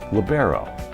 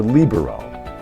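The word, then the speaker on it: libero: before the first serve how you pronounce this position may depend on the part of the country you're from it may be pronounced labero or bero both are fine if you aren't sure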